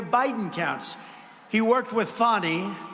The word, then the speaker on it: Fani: counts he worked with fonnie even though it's spelled Fanny f a n i fny how about that one